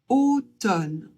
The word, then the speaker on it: automne: On ne prononce pas le M. On se contente de prononcer le N. Et le e à la fin, on ne le prononce pas non plus. Donc ça donne automne l'hiver.